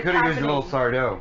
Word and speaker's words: Sardo: Because you could have used a little Sardo. It's happening. It's happening. Accent on the dough.